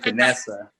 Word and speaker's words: Finnesser: Finnesser, is that the correct way of pronouncing your name? Finnesser? Yes, Finnesser.